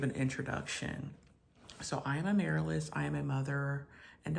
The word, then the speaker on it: Amaryllis: My name is Amaryllis, almost like the flower. The flower is pronounced Amaryllis, but I am Amaryllis.